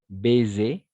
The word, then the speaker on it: baiser: deux voyelles d'accord entre du voyelles on va prononcer comme un Z d'accord une rose d'accord une rose on ne fait un baiser d'accord baiser parce que la combinaison des voyelles